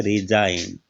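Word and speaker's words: resign: रिजाइन, तो एन से पहले जो जी आया है उसका उच्चारण नहीं हुआ, एस आई का उच्चारण हुआ है रिजाइन, जी साइलेंट है।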